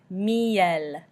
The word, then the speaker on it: miel: The letter L is also pronounced at the end. For example, the word miel, miel.